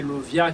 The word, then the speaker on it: Lauviah: fin avec dernière vidéo qui a rapport avec dernier génie qui c'est 17e génie qui c'est Lovia qui s'écrit L-A-U-V-I-A-H L-A-U-V-I-A-H qui c'est Lovia.